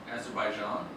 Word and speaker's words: Azerbaijan: Azerbaijan?